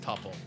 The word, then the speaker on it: tuple: I thought it was pronounced tuple. I've always pronounced it tpple. I I mean I've always heard it pronounced tpple like couple tpple.